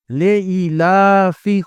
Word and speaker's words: لِإِيلَافِ: بسم اللہ الرحمن الرحیم۔ لِإِيلَافِ قریش، لام زیر لی، الف یا زیر ای، لام کھڑا زبر لا، فا زیر فی، لِإِيلَافِ، قاف پیش قو، را یا